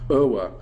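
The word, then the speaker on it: Euwe: Um Alien played um and this one's a hard one to pronounce. It's worse than Aken. It's OA. Um Max OA from the Netherlands.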